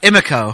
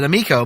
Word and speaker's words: Emiko: But also the name was not pronounced exactly the way that I thought it would be. Yeah, it's pronounced Emiko. Emiko. And we've always pronounced it Emiko, but I don't know if that's...